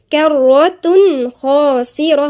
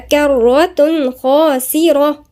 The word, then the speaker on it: كرة خاسرة: بالضم وبعديها حرف الخاء، دي بقى الخاء دي من حروف الإظهار يبقى في إيه؟ إظهار مفيش غنة، يبقى نقولها إزاي؟ كرة خاسرة، ما نقولش كرة مفيش غنة، هي إظهار لأنها من الحروف الحلقية الخاء، يبقى كرة خاسرة.